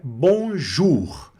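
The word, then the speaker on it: bonjour: Mas o o mais u vai ser o som de U, tá certo? O Mais Ura som de U. Ele o o Oí vai sumir. Então o som dessa palavra fica bonjur. Bonjur. E a gente pronuncia esse R aqui no final, tá?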